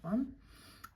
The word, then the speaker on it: aux: I have to go back there and correct that one. And A plus le becomes O, A-U-X. Now, if this is followed by a vowel, you would pronounce a Z there, where the X is.